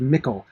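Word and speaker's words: Michel: you print Mikkel Delvin it's definitely pronounced Mikkel now it's an interesting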